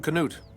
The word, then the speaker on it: Knut: rebel mercenary hey I'm Knut these are my men Knut could you cannot pronounce that K at the start of your name what are you doing